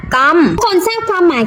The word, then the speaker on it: GOM: อักษร ตรง นี้ ไหม อ่าน ว่า กอม ทุก คน ทราบ ความ